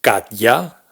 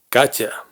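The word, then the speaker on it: Катя: de un nombre propio, no pronunciamos Katya ni Katia, sino Katya. Imaginaos que cuando la T y la Ya se juntan, ese sonido de Y inicial que hay en Ya se funde con la T, de forma que la T se vuelve blanda.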